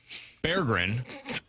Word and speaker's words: Berggren: Jonathan Berggren. Oh, is that really how you pronounce it? According to Hockey Reference, it's Jonathan Berggren is the newest member of the St.